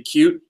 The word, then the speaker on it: Qt: this so that but the correct way the way they tell you to pronounce QT is actually supposed to be cute but I really dislike that pronunciation so I always just call it QT anyways I refuse to